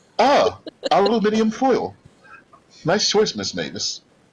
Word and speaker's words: aluminium: Yes, that's what it's called, aluminium. I forgot to say aluminum. Holy shit, it actually is called aluminium. It is aluminum in America, but the British say aluminium.